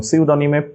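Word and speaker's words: pseudonym: pneumonia psychology P psychology mnemonic এমনি pneumonic এবং সিউডনিম পি সিডনিম এখানে একটা জিনিস মাথায় রাখতে হবে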